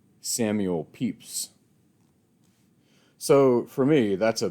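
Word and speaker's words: Pepys: is from him that I learned to properly pronounce the name Samuel peeps so for me that's a big plus of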